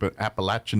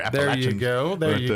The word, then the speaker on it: Appalachian: So, App Appalachin Mountain there. Appalachian.